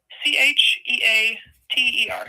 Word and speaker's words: Cheater: C H E A T E R, Cheater, just like it sounds.